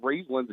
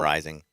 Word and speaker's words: Rising: How you say his name? I call it Rising, but it's okay. I mean, it could be Riesling, it could be Riesling. It's actually Cam Rising.